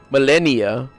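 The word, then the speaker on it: Malenia: She is Melania, which is pronounced Melennia, but I see how they pronounce it different.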